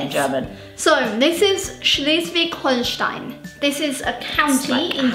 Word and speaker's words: Schleswig-Holstein: But I can imagine in English, it would be Schleswig-Holstein. Schleswig-Holstein. Yeah, but it's Schleswig-Holstein.